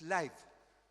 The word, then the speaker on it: Leib: El otro es Leib, L-E-I, B larga, y ahí no se puede traducir, ¿se da cuenta?